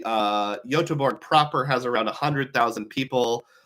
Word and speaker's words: Göteborg: So how about Gothenburg, Sweden, which is pronounced Göteborg.